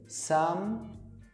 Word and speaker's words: sometimes: É outro que é bem importante tomar cuidado na pronúncia para não falar sometimes, colocar esse ezinho do meio. Esse ezinho do some, você não pronuncia ele. Então a pronúncia fica sometimes. Conecta os dois, sometimes, sem falar sometimes, tá?